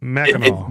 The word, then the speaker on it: Mackinac: How do you say it again? Mackinac. Mackinac, which Mackinac. obviously doesn't look like it.